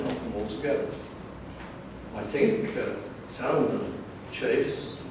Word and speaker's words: Salmon: And the L is sounding, although it's spelled the same as salmon, so it's a fishy name.